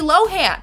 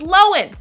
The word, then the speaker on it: Lohan: I've been pronouncing it Lindsay Lohan. It's Lohan.